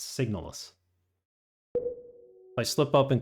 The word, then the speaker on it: SIGNALIS: find out we shall find out and it's pronounced signis not signal signal sounds like a a drug they advertise on TV it's signis I slip up and call it signal that's